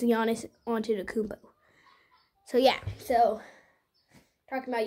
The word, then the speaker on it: Giannis Antetokounmpo: It's Giannis Antetokounmpo.